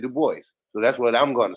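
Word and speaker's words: Du Bois: up that's exactly why but he didn't pronounce it like that he pronounced it the boys so that's what I'm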